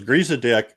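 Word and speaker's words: Griesedieck: Griezadick. G R I E S E D I E C K.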